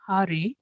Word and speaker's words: Hare: The words Hare pronounced Hare, Krishna pronounced Krishna, and Rama rhymes with Rama are Sanskrit words.